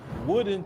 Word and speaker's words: Woden: Another town they're actually saying that is active sundown still to this day is Woodin, Texas. It's spelled Woden.